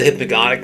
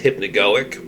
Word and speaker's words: hypnagogic: some people call the hypnagotic state with with a guy instead of a go but when you look at the actual spelling of the word it's it should be pronounced hypnagoic and it's essentially just